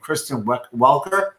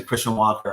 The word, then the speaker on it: Kristen Welker: Welker, and it's just everyone was pronouncing Christian Walker on TV, freaking me out. They were listening to this slightly gently mispronouncing with like a Canadian accent. It sounds like Christian Walker.